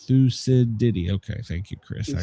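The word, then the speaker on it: Thucydides: Uh, see, it's pronounced thusides. Thusidi.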